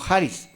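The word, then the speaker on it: χάρις: del griego haris de la palabra en griego jaris o pronunciada como haris y la traducción del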